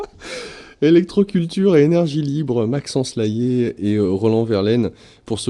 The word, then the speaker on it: Layet: Électroculture et énergie libre, Maxence Laillé et Roland Verlaine pour ce livre Les bienfaits de l'électricité et du magnétisme naturel pour des cultures écologiques. C'est aux éditions Le Courrier du Livre. Laillé, j'appelle le nom de famille, Layet.